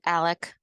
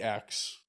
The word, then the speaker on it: Alex: I'm sorry, does he pronounce it Alec? No, He doesn't? Okay, I thought it's that I heard it somewhere. Alex.